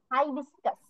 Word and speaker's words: hibiscus: High, H আই তে high হয় না, সেই হাই বিস্কাস। আপনি কি বলছিলেন ডি হবে ওখানে? না না না, এখানে আমি বলছিলাম যে এইচ আই এর উচ্চারণ হাই হবে, হি না হয়ে।